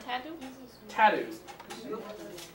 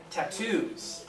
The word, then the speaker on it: tattoos: Tattoos. Yes. Second yes. syllable, that's what it is. I thought that's what you were saying. Stressing the first syllable, I might hear a different word. You could like doing tattoos. Second syllable.